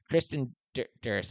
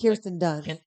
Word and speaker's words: Kirsten Dunst: In addition to Dushku, here's some other people: Natalie Portman, Sarah Michelle Gellar, Kristen Durst. Am I saying that right? Kristen, like Kirsten Dunst. Kirsten Kirsten Dunst. Dunst.